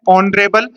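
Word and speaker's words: honorable: आप सभी को पता है इसमें एच साइलेंट है। इसको अपन पढ़ते हैं ऑनरेबल।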